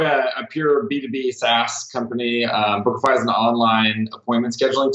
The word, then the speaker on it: Bookafy: Like Bookafy is the domain you have, correct?